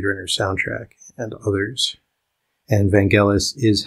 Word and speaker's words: Vangelis: on the Blade Runner soundtrack and others and Vangelis is how you pronounce his name I looked it up on